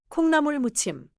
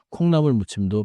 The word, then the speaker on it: 콩나물무침: 계란마리, 시금치나물 and 콩나물 묻침.